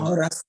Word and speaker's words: horas: horas são? What Que time o- is it? Que horas Yeah. são? Que horas? Horas, Que yeah? horas? Que horas? The age has no sound.